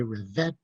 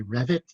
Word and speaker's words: Revett: revet or Revit um you will hear his name pronounced both ways uh Americans tend to say revet English tend to say Revit uh but it um